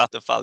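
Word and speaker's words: Vattenfall: Uh Vand Vanderfall battery uh power as a service uh Vatinfall I'm probably pronouncing. Yeah, VFal. Exactly. Vatal.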